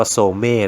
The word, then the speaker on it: Zome: A Green นะ ครับ ก็ อ่าน ว่า โทรม เอ้ นะ มัน เป็น งาน ศิลปะ